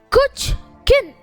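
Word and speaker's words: Kuchkin: "My last name is an easy one, 2 syllables, Kuch-kin, and still you can't write it?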